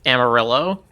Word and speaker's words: Amarillo: Wait, do you pronounce it Amarillo, not Amarillo? Yes. The color is Amarillo. The city is Amarillo.